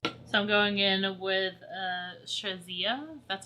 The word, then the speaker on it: Shazia: So I'm going in with SHAZIA, that's how you say it, and it's going